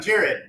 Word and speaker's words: Jared: do is call me Jerry. Yeah. Because when I introduce myself, hey, I'm Jared. Oh, Jerry, nice to meet you.